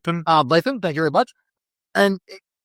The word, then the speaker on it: Ardlethan: Let me get that pronunciation. Ardlethan, thank you very much.